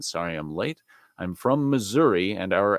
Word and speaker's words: Missouri: the quick to say you don't pronounce it like gotta say Missouri Missouri it's Missouri it's not Missouri it's Missouri even though you know it's still misery I'm kidding maybe not